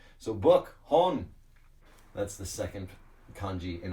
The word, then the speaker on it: 本: yes it is also the kanji for book pronounced hon but in this case